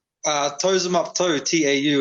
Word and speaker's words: Tau: toes him up too tau is my last name brother it's um it's a maori name so obviously uh it has a little bit different pronunciation with the vowels but um yeah if you've got ten toes on your feet it's not too hard to figure out i've hey i've seen